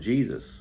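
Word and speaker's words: Jesús: and see if um Jesus which is spelled Jesus it's just pronounced Jesus in Spain uh Jesus fora f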